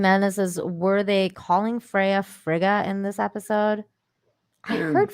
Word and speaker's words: Frigga: it because isn't that her name is frail but i heard fraga too so i don't know uh oh frigga is her name okay uh frigga is